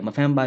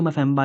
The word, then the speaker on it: Mpemba: देखो, नाम ऐसा है कि ये ही नहीं बोला जा रहा, तो करेंगे क्या, मफेम्बा इफेक्ट इसे कहते हैं। ठीक है, बड़ी मुश्किल से सीखा मैंने भी ये प्रोनाउंसिएशन, इसे क्या कहते हैं, मफेम्बा इफेक्ट।